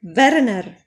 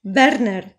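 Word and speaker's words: Verner: ist ein Zeche und sein Familienname Werner ist darum nochmal tschechisch geschrieben und ausgesprochen als Gegensatz habe ich hier ein Name eines deutschen Erfinders wenn er von Siemens er ist ein deutscher so ein sein Vorname Werner ist normal Deutsch geschrieben und ausgesprochen und ihr seht die Aussprache ist in beiden Fällen gleich und für Interessantheit habe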